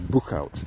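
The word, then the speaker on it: Boechout: the other one is Bookout which is difficult to pronounce if you're not very good in Dutch it's b o e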